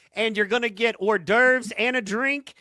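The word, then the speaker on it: hors d'oeuvres: You can win a car, $50 VIP entry, and you're going to get orurves and a drink. Yeah, I said orderves. I pronounced it right, y'all.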